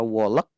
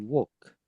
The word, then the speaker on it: walk: Eh, kata walk ini L-nya samar banget, Guys. Jadi bukan walk. Tapi woke woke em itu British. Kalau American dia lebih ke a kalau enggak salah.